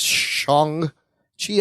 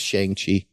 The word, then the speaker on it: Shang-Chi: It's pronounced Shang-Chi. I always thought it was Shang-Chi.